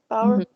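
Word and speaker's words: Bawer: by Bruce Power um is that how you pronounce it b-a-w-e-r right power yeah but the American spectator and uh it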